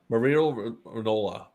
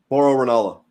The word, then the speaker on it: Mauro Ranallo: Mario Rinola. Did I say his name right? Mauro Ranallo.